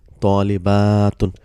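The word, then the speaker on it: طَالِبَةٌ: It's like opening your mouth to eat a big laddu. So atun. So you say talibatun.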